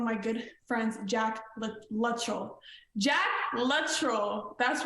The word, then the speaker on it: Luttrell: oh yeah it's like everybody I meet says my last name wrong what do they say Latrell yeah a lot of